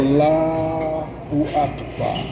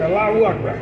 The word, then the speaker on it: Allahu Akbar: Allahu Akbar. Allahu Akbar. All those syllables have to be expressed.